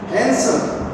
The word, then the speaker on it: handsome: Handsome. D is silent.